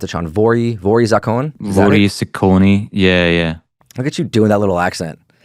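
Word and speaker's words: воры в законе: I think, how do you pronounce it, Sean? Vory Zakon? Vory Zakoni.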